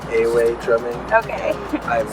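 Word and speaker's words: Ewe: It's pronounced Away drumming.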